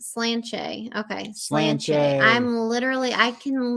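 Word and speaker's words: Sláinte: the dragon were excellent Salon Tay is pronounced slanche okay I'm literally I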